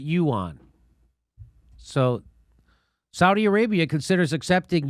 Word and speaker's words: yuan: siri that's not helpful you on i hear somebody just told me you want and i'm trying to hear it online too you on you on you pronounce it yuan so saudi arabia considers